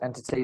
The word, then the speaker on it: NTT: rat rock band um stylizes NTT is in the three letters NTT okay uh but pronounced entity they're amazing they're Wicked